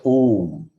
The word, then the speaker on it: Om: A plus U is equal to O. So we pronounce it as Om. Instead of saying A and U separately, we say O, then utter M.